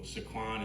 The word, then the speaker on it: Sequan: So Sequan is how you say it in Pequot.